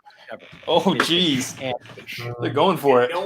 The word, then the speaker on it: Heche: And He pronounced her last name wrong. Anne Heche is the correct pronunciation of her name. Anne Heche, it may be Sam's opinion differing from our own, is a common mispronunciation of the name.